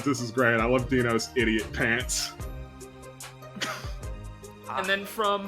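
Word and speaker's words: Deno: And then from Karabe, It's Dino Brando. It's Dino Brando. Yeah, it's spelled with an E.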